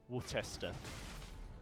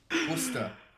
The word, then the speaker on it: Worcester: And first blood goes over to Worcester.